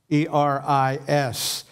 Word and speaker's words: eris: The next word is strife, E-R-I-S. You pronounce that eris, eris.